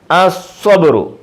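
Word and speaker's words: الصبر: സ്വബുറുൻ സ്വബുറുൻ അസ്വ, അലിഫ് ലാമിന് ഉച്ചാരണമില്ല. അസ്വബുറു അസ്വബുറു സ്വബുറുൻ അസ്വബുറു.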